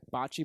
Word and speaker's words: bocce: Bocce ball.